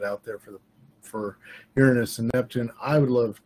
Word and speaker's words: Uranus: Uranus and Neptune and that is the correc pronunciation of Uranus of course as my one and only astronomy professor said this is not an anatomy class uh Uranus and Neptune